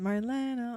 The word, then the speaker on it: Marlene: So, the song was Marena. That's how she pronounced it. Marena on the wall.